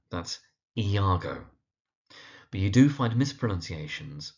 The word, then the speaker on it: Iago: Now, the second character on this list is the one whose name is most frequently mispronounced. Now, his name is Iago. That's Iago.